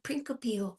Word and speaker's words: principio: Sometimes I pronounce my C's in principio. Yeah. They have a rule on that, depending on which Latin you're using, classical Latin or church Latin. So we're doing classical, so I have to pronounce a hard C.